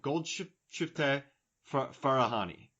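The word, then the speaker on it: Golshifteh Farahani: I I've learned how to pronounce this name. Gold shift Farahani.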